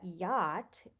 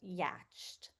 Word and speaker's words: yacht: Understanding that yacht is pronounced like yo t requires exposure to the correct pronunciation.